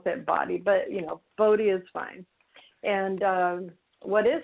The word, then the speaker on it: BOTI: So that's why we pronounce it BOTI. But, BOTI is fine.